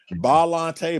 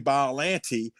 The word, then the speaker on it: Biollante: Biollante, Biollanti.